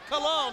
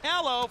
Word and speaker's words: Calo: Cicope with a lariat that time, sending down Super Calo. Now, fans, we had been saying Calo for so long, but we understand the correct pronunciation is Calo.